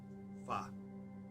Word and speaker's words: Far: to the nature of it's just one syllable, Far, rather than Fa, Re, Us, the three syllables, Fareus.